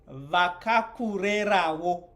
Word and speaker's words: vakakurerawo: And remember that the syllables for Shona always land on the vowel. So U is a full syllable on its own. Che, it's right there at the E. Nge, te, va, ka, ku, re, ra, wo.